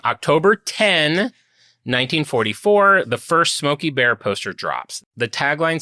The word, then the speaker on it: Smokey Bear: I've only ever said Smokeoky the Bear and you've only said it wrong. Wow. Pull over. Pull over. I've actually known this for years, but yes, I bet half of the people know that it's Smokeoky Bear.